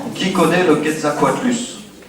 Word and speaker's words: Quetzalcoatlus: mon paléo-quiz, hein, le Quetzalcoatlus. Non ? Qui connaît le Quetzalcoatlus ? Ça s'écrit comme ça se prononce.